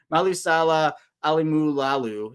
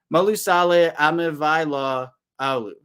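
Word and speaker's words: Malaesala Aumavae-Laulu: Malusala Alimulalu is the guy here. Or no, I said it wrong. It's my first time pronouncing it. Malusale Amivaila Alu.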